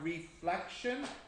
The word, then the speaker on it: reflection: and the same here you want to put the stress on the middle part because that's the difference so you have reflection and refraction you try